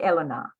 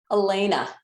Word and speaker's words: Alayna: Alayna, as soon as you came on, I said, I'm going to say her name wrong. It's Eleanor. How do you say it? Alayna. Alayna.